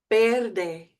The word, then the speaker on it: verde: And remember the V is a B. Verde, verde, verde.